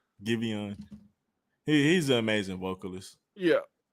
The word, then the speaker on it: Giveon: Giveon.